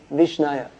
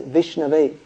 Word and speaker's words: Vishnave: to say two vishnu you would say vishnaya but actually this is irregular case and the proper way to say is vishnu so an uh a half-learned person a fool murkham he may say vishnaya but an actually learned person someone who's studied he says vishnave so but who are